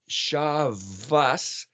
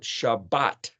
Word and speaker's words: Shabbat: it or is it Shabbat or is it Sabbath well the Tav can be pronounced as a t a TH or an s s if you look